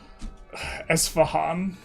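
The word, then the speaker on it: Isfahan: Sometimes it's like you rage bait the names, like when you pronounced Eshfan as Eshfan. Esfahan.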